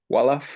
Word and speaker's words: Wolof: Wolof, WOLOF.